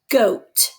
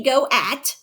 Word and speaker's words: goat: and this word is goat it has o a in it i don't say go at i say goat i see the goat